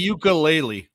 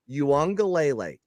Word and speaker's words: Uiagalelei: Ukulele. Okay. No, it's Uiagalelei.